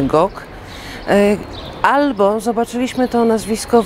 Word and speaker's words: Gogh: nazwisko po raz pierwszy od Francuzów, którzy tak jak mnie posiadają głoski ch, która jest zapisywana za pomocą litery G. W związku z tym wymawiają to dokładnie tak jak my, Gok.